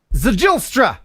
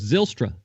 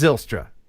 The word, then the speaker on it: Zijlstra: I bet the J is silent, so I would say you were close. Zilstra. Oh, yes, it probably is Zilstra.